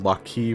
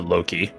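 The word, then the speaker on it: Loki: and it's lock key for the god of traps and also you could alternatively pronounce it low key okay that's fun actually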